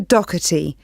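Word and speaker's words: Docherty: have your full name please yes it's Doherty I'll spell that for you it's d-o-c-h-e-r-t-y thank you and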